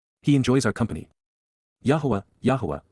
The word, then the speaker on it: Yahowah: Yahweh Yahwa the proper pronunciation of the name of Eloha God as directed in